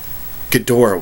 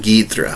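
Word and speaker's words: Ghidorah: So, let's go ahead and uh do the King Gdora one or King Gedra, however you prefer to pronounce it. I prefer Gdora, but I know some do Gedra. Both are correct.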